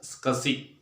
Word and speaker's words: SCSI: You have to pronounce it as SCSI.